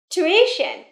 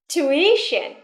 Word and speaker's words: tuition: Tuition. Trọng âm rơi vào âm tiết thứ hai nhé. Tuition.